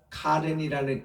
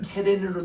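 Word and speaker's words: קָרַן: 이 광채가 났다는 카렌이라는 이 단어가 말이죠. 이게 모음 포인트를 잘못하면 케렌으로 돼가지고, 케렌 뭔가니 뿔입니다. 뿔. 이게 발음 잘못하면 뭐 뿔이냐 광채가 이렇게 되거든요.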